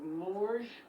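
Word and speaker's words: Morges: We are going to work our way down into the little village of Moor. Mor is spelled M O R G E S.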